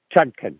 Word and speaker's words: Chutkan: Is it Chutkan? Chutkan. Yeah, Chutkan. That's it is. It's hard to keep them all straight. Yeah, has asked Chutkan that this whole case should be thrown out